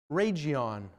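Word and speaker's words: Rhegium: city right here who wants to try and pronounce it Rion okay that's the official pronunciation I wanted to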